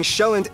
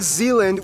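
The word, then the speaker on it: Sjælland: 74 are inhabited but the largest island being shelland not zealand which is not to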